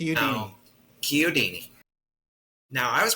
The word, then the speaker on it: Chiodini: Yeah that's Kudini. Kini. Now Kyodini. Now I was pronouncing your last name wrong.